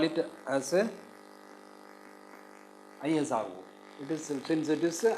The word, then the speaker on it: ISRO: common expansion of ISRO isro is Indian space Indian Space Research Organization. It is Indian Space Research Organization. We pronounce it as ISRO and it was asked in October 2012.